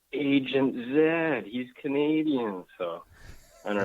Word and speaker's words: Z: So, being in Canada, I know that Z is pronounced Zed, not Z, so why don't they call you Mr.